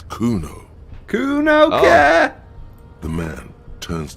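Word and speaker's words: Cuno: it I did see how to say it's Kuno Kuno yeah the man turns to look behind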